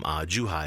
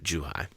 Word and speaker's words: Zhuhai: were recently here in Zhuhai if I'm pronouncing it correctly ish yes that's great true hi is perfect excellent and what's that what brought you to Joo hi my mom had been